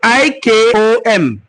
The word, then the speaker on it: Ikom: Ikom is spelled I-K-O-M.